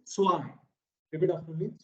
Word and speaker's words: zwei: That Z is pronounced as sir, or tsunami, sir, utsav, sir. Okay, if you cannot, it is not literally chur, it is sir, utsav, sir. Okay, so it is swai.